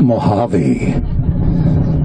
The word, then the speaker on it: Mojave: how's the volge a desert that's it it's pronounced to mojave I learned this is what are you gonna